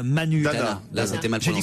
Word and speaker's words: Dana: Et puis le trio Jean-Pierre Mariel, Audrey Donna, Manu. Dana. Là, c'était mal J'ai dit prononcé.